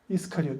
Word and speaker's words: 이스카리옷: 가룟인데 이것은 한문 음역이죠. 원래는 이스카리옷입니다. 이스카리옷, 유다 이스카리옷. 원래 읽을 때도 가룟 유다라고 읽으면 안 되고 유다 이스카리옷 이렇게 읽어야 되죠.